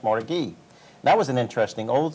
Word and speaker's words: Mordecai: It's spelled Mordecai, but pronounced Mordecai.